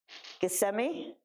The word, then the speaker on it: Gethsemane: Gethsemane?